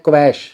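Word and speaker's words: quash: अब मैं यहाँ पे शब्द बोल रहा हूँ क्वाश, मैंने देखा है अक्सर स्टूडेंट्स बोल देते हैं क्वैश, इसको बहुत लोग क्वैश बोलते हैं। एक्चुअली ये क्वैश नहीं होता, इसका सही उच्चारण होता है क्वाश।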